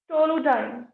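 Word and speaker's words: toluidine: एक तो टाउलिन पढ़ा है हमने, ये है टोलुडाइन। Spelling is ortho TOLUIGI ortho टाउलिडाइन, right.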